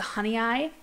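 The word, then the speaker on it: Honeoye: great June bearing ones the honey eye it's not spelled like that it looks weird but the honey ey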